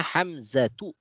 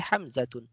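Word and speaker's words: حمزة: Sehingga kita membacanya Hamzatu, tidak boleh Hamzatun. Talhatu, tidak boleh Talhatun.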